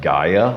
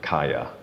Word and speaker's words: Kaya: It sounds more to me like Gaia, which some people will actually call the name of the earth, which I thought was real interesting. Now I've heard this pronounced with a K, Kaya. Like Dharmakaya. I mean, it's very similar with the K, but and then the other one, Kaya Skanda, is probably correct. Yeah, Kaya is probably correct.